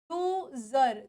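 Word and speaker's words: user: form में आ रही है तो वर्ड की स्पेलिंग क्या बन गई ये बन गई यूजर तो इट इज जड जड के नीचे बिंदु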